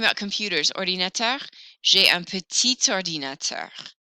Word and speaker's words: petit: Talking about computers, ordinateur, j'ai un petit ordinateur. Petit, I don't usually hear the final T, but when that O follows, I do.